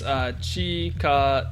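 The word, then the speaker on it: 近づく: Chikazuku is how you pronounce it. But then I also want to emphasize that it could be Chikazuku.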